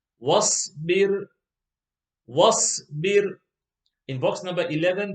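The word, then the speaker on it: واصبر: In box number 10, the alif is not read, and it is easy to know why, because the alif doesn't have a haraka. Wasbir, wasbir.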